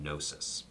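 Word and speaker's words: gnosis: that has at its core an interest in nosis nosis GN o s i is the Greek I was about to spell it I wanted to show off yes yes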